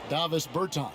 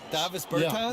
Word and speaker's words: Davis Bertans: Oh, well now, at this point in my life, it's Davis Bertans. Is that how you say his name? Yeah. Davis Bertans. Davis Bertans?